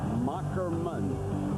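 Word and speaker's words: Moherman: Journalism major, and the name is pronounced Macklemann. As he explained to us, that's old German where the H is a K.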